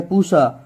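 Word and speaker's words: Pusa: तो अब देखो पहला देखो ब्रासिका, अब यहाँ पे वैरायटी में देखना पूसा जो है ना, प्यूसा, जैसे आप प्रोनाउंसिएशन कर सकते हो, ये जो पूसा है या पूसा, पूसा ही बोलना है इसे, ठीक है।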